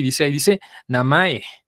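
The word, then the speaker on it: なまえ: la primera sílaba es la primera sílaba es baja y las demás son altas en la gran mayoría de las palabras Entonces es namae Ajá bien y cómo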